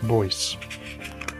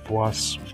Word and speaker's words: Bois: Now, so on to the next fragrance house, and it is a house called Bois, or Bois, B-O-I-S it's spelled.